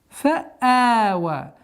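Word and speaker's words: فَآوَىٰ: Ятиман фа'ава. Здесь у нас фа'а, четкое ясное произношение звука хамза, и удлинение подчиняется хамзе в размере двух огласовок. Итого получается фа'ава.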